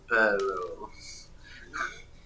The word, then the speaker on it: perro: Me gusta el perro. Perro. Roll your R's. You gotta roll your tongue.